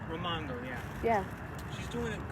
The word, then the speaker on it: Raimondo: Governor, how do you pronounce her last name? Raimondo? Raimondo, yeah.